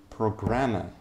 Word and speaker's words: programmer: Programmer. Programmer. Programmer. Здесь, смотрите, ударение падает в этом слове. Запомните это слово. Очень важное слово. Programmer. Programmer. Нужно читать. Programmer. Ударение падает на первый слог.